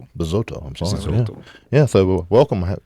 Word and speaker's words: Bizzotto: My name is Besouro and I'm here at Two Plane Guys.